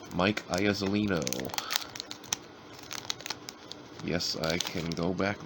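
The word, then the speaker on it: Mike Iuzzolino: And then that last card, if you want to know how to pronounce that guy's name, it is Mike Iazolino.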